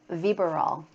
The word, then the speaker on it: Vybiral: How do you think? Vybiral? Close. Vybiral. Vybiral? Okay. Yes. So Vybiral.